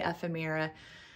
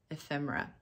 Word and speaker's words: ephemera: ephemera which I know I always say fmira and I know it's wrong it's a better than it used to be I will try and remember ephemera I'm terrible at pronunciation